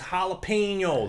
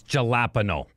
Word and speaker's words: jalapeño: So, for instance, Alapeño. Eño. So it's more of like a high N rather than a low N. You know what I'm saying? You're reminding me of Trailer Park Boys. Ricky, it's Jalapeño.